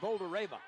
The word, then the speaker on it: Boldyreva: Yeah, Boldyreva. Pronounced Boulder-Reva.